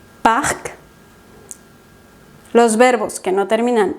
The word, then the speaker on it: parc: Hay ciertas consonantes finales que sí se pronuncian. Es el caso de estas que ves aquí. Parc.